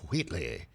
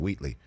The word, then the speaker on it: Wheatley: Tyrone Wheatley. Because he would pronounce the H in Wheatley.